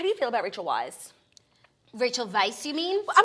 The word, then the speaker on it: Weisz: You know, how do you feel about Rachel Weisz?